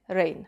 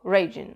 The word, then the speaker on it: Reijn: studia i twenty-four reżyserii Haliny Rain albo raigyne Ale ja się zdecydowałam na te taką bardziej oryginalną wymowę imienia i nie fakt że